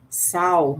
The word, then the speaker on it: sauna: father built a sauna which we pronounced sow not like the female pig it had a wood